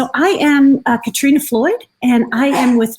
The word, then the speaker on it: Katrina: have introduced myself um my first name is katrina it's pronounced katrina because it's norwegian so it looks like catherine um and then i'm going